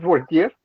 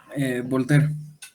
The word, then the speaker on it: Voltaire: ¿Sí es Voltier? Voltaire. Voltaire, ok. Si tuviera una E nada más.